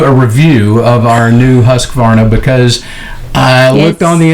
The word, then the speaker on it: Husqvarna: You have to say it correctly, though, I think. Well, what was incorrect? Husqvarna. Oh, right. So I mean, it is Swedish.